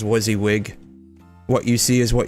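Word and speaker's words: WYSIWYG: I'm not sure if I'm pronouncing that right, but I always just pronounce it as Wizzywig.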